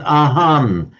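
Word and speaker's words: อาหาร: They pronounce it ahan in Thai, but So just that ahara. that's just so ahara in Sinhala. Ahan it's pronounced in Thai.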